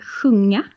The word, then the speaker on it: sjunga: We also have sjunga.